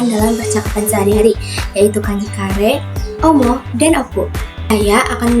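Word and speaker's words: 彼: Cara baca ongyominya hi, cara baca kungyominya kare atau kano.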